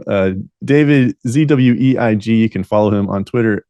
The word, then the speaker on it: Zweig: was released by David zwig I'm sure I pronounced that mispronounced that last name uh David zweig can follow him on Twitter at David zweig I think it's pronounced zwig could be completely wrong there but he released